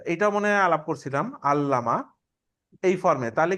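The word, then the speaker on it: عَلَّمَ: একটা চেঞ্জ হইতেছে ঠিক আছে খেয়াল করছেন তাহলে আল্লামা আল্লামা অর্থ কি আলিমা শিখছেন আইন লাম দিয়ে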